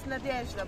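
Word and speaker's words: Надежда: Nadezhda.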